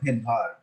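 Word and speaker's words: Svedberg: আর যখন আমরা এস কে উচ্চারণ করব তখন বলবো ভেদভার।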